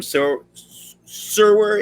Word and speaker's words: Serwer: And when I see all of your one, Adam Serwer, is that the pronunciation?